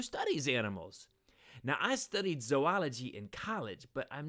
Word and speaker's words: zoology: comes from the Greek word for animal so zoology is the study of animals by the way it's zoology not zoology if it were zoology there need